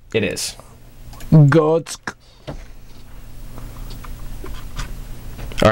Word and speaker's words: Götze: I can get Gertz's name wrong. It is Mario, though, right? No. What's his first name? I don't know. If it is, I'm going to kill you. Borussia Dortmund. Götze. It is. Götze.